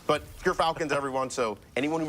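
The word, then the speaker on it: Gyrfalcon: We actually, off screen, we're figuring out how it's pronounced. But Gerfalcons, everyone, so anyone who mispronounces it, that's how you say it.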